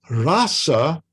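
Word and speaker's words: rāsa: By the way, please make a distinction between rasa and rasa. These are 2 different words completely. Rasa, with the first long A, refers to the Rasa Lila, the rasa dance.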